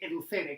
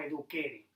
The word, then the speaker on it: educere: educare y de educere, educere, que en latín se pronunciaría, digo yo, se pronunciaría algo así como eduquere.